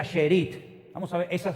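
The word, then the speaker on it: שארית: Miren, la palabra remanente en hebreo es una palabra que se pronuncia sherit. Vamos a ver. Esa es la palabra en hebreo. Esa palabra se pronuncia sheerit.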